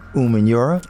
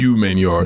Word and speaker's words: Umenyiora: That is OC Umenyiora. Good. It's actually pretty good, you know. You like said that? Umenyiora. A lot of I people know still your say name. Umenyiora. It's No. not Umenyiora. It's Umenyiora.